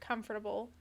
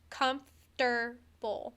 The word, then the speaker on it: comfortable: often with the word comfortable. Mm-hmm. How many people do you know that say comfortable? Like, make it 3 syllables and just say comfortable and would probably spell it like that.